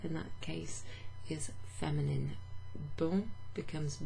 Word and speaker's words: bon: So instead of bonjour, bon, pronounced bon, because it's the masculine version of the adjective bon, which means good.